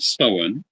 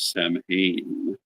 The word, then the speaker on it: Samhain: English-speaking point of view um so the word seen is spelled s m ha a i n because of that many people who don't understand the pronunciation pronounce it as Sam um in much the same way that they